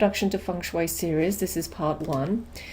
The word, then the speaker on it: Feng Shui: it doesn't look like funu that's how it's pronounced people still uh come up to me and say you know tell me about fanguy and I know that's what it's looked like